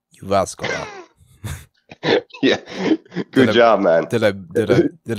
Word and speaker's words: Jyväskylä: Okay, hey, I want you to try to pronounce this. Jyväskylä. Jyväskylä.